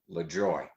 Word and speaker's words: Lajoie: and see he said my uncle and i always pronounced it le joy now you can imagine